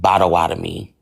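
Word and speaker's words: Potawatomi: That's when I found out I was Pawatami pronounced bawadami and it has its own alphabet.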